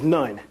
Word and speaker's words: Noon: And as you know, Noon is actually, within our language, will be pronounced as nun.